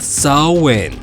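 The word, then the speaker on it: Samhain: They called it sin, pronounced saw wind.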